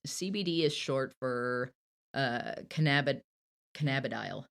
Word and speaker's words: cannabidiol: So CBD does a whole lot, and it's CBD is short for cannabidiol. yeah, cannabidiol, Cannabidiol. I cannabidiol, put the wrong emphasis on the wrong syllable.